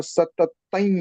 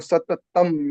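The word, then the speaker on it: सततम्: Now, when we pronounce, we say Satattan Yogi, but when I heard the video of Suvarna Kakiji in YouTube, then it is pronounced that Santushtah Satattam Yogi. There is no stress on ma, but Satattam that is recited.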